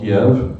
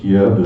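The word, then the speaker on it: Kyiv: some people call it Kiev but during the war it's all of a sudden ke ke is the Ukrainian way to pronounce it Kev is the Russian way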